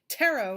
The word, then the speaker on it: tarot: Tarot, it says, which rhymes with pharaoh.